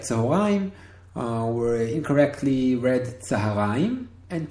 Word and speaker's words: צהריים: Now, a note here: many Israelis do not say צהריים, do not pronounce it צהריים, though it should be pronounced like that. They say צהריים. Okay.